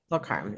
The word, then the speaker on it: Tulkarm: And they also found, unfortunately, tunnels in how do you pronounce the name? Tulkarm? Yeah, total crime. Tulkarm.